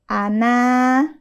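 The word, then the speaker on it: أنا: kayak apa contohnya seperti setiap kata Ana dalam Alquran ya tulisannya kan ana setelah Nun Alif harusnya dibacanya panjang kan Mad thaii dua harakat tapi e di kata ini berlaku hukum bacaan qasar yakni pendek bacanya Ana Nah Enggak usah panjang Ana nunnya tidak ada Mad thiinya ada lagi kata yang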